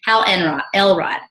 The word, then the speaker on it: Hal Elrod: Hal Elrod.